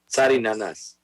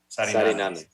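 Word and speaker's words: Sariñanas: Sarinanas. Sarinanas. Well, there's a little enye over the first end, so I always want to make sure I'm pronouncing it correctly.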